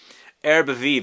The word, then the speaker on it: Herbes Vives: Herbe Vive is how it's supposed to be pronounced.